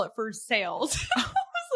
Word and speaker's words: Versailles: I have a story Versailles, you know, like the city of Versailles, like it's French, right? They call it Versales here.